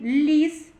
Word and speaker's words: ліс: і звучить твердо л а у слові ліс ми чує перший звук ль він звучить І вимовляється м'яко ль А у слові кіт